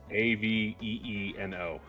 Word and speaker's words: Aveeno: didn't tell me the spelling, so I spelled it the way it's pronounced phonetically. Okay. Aveeno, Okay.